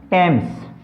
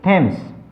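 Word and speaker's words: Thames: ये क्या है, यहाँ पर टी एच ए एम एस को क्या बोलेंगे हम, टेम्स, ना कि थेम्स।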